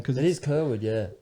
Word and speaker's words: Kyrwood: And the amazingly handsome actor, singer, Mr. Dean Kyrwood. Yes. Is that how you pronounce it? Pronounced it right.